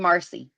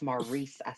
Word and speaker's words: Maurice: Hey, I mean Marcy. Maurice. Maurice. It's Maurice. I'm going to say it right this time.